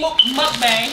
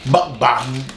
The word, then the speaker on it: mukbang: This was our little mini mukbang. How do you actually say it? This is our mini mukbang. That's how you say it. Mukbang. Nah, how you saying? Buck bang. How you saying? Mukbang.